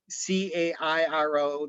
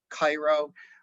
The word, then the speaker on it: Cairo: that is the the the most southern point c-a-i-r-o looks like it's cairo uh but uh illinoisians know it's pronounced as cairo illinois and that's uh that's